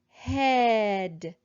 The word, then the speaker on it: head: Head, bread, thread. What sound do you hear in each of these words?